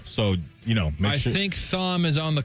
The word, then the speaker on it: Thom: Yeah, he's the only Tom who keeps the H from Thomas in there.